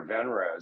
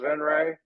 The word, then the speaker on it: Venrez: always arguing yeah whether it's van Ray or venraz so I don't ever correct anybody it it is pronounced venray it's spelled Veterans for a specific reason but